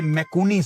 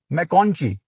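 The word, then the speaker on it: McConchie: क्या नाम है भाई का? मैकॉन्ची। मैकॉन्ची है भाई का नाम, एक दफा और सुन लेते हैं, बड़ा मुश्किल नाम है। मैकॉन्ची, ठीक है।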